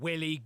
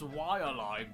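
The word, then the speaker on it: Waialae: for a game called Willie golf actually I think you'll find that it's pronounced why alive golf based on the real-life Golf Club in East Honolulu Hawaii whoa no way thank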